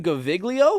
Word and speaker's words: Gaviglio: How do you say his last name? Gaviglio? Yeah, that's right. Like it's not like a soft G or anything like that.